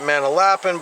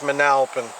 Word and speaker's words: Manalapan: Facebook page man alfin some pronounce it Mana lapping but it's Manalapan all right we got